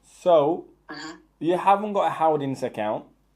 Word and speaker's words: Howdens: How do you spell that? It's Howdens. Howdens.